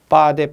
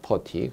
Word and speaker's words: 퍼티: 메타알데히드, 제3부틸알코올, 라카포티 현장에서는 일본식 발음으로 빠데 그러는데 그게 라카포티입니다. 퍼티 그리고 고무풀 이런 종류인데 인화성 고체 종류는 명칭만 잘 기억을 해주시면 되겠습니다.